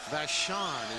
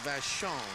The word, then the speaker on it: Vashon: teammate of Anthony boner both ended up with vashan is the correct pronunciation I was giving it a Vashon one of the great high schools and Eddie